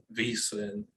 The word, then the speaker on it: VSiN: It's pronounced, it said VSIN. It stands for the Vegas Sports and Information Network, but acronyms are tough.